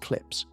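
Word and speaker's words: CLPS: NASA's commercial lunar payload services program, known by its abbreviation, which is pronounced clips, has been sending robotic landers to the lunar surface.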